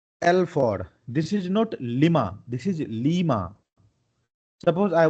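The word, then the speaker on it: Lima: double E, so that अगर एल का मतलब लीमा होता है प्रोनाउंसिएशन में, तो हम इसको लिमा नहीं पढ़ेंगे, ठीक है।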